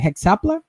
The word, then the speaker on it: Hexapla: Now it comes to Origin and his, how do you pronounce it? Hexapla?